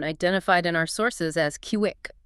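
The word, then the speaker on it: Kiuic: Which brings us to a forgotten Maya town identified in our sources as Kiwick, spelled K IUI, but pronounced Kiwi, right?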